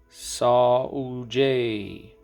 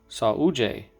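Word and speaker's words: saúde: they say in brazil saw jay which if you look at that it's like sawdell but i guess it's pronounced sauje the house brother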